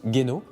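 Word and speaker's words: 玄能: Donc les marteaux japonais, en japonais se prononcent geno.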